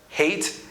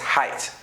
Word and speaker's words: height: people pronounce it wrongly it's not hate it's height okay like height I'm afraid of heights